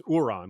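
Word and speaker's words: Urron: that's not neces that doesn't sound like theon at all it sounds like you're on in fact the name is it's it's not spelled the same as euron it's uran like u-r-r-o-n but still this is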